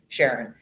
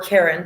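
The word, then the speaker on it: Charon: Well, it's largest moon, Sharon, or Karen, depending on how you like to pronounce it.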